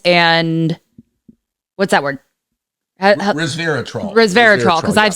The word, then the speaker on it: resveratrol: Resveratrol, because I've said it wrong like 3 times and you've corrected me.